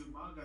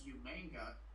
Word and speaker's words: Umaga: accent batia Batista first William mispronounces Umaga as umanga now Michael Cole mispronounces